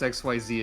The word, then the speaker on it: Xyz: I forgot how to pronounce XYZ again in the last 5 minutes.